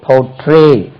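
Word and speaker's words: portray: டி ஆர் ஏ ஒய் போட்ரே போட்ரே stress lies on second syllable போட்ரே போட்ரே போர்ட்ரைட் பி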